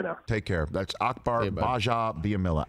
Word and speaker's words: Gbajabiamila: take care that's akbar baja biamilla at akbar understore underscore baja which is the it's the silent g everybody silent g g-b-a-j-a on both twitter and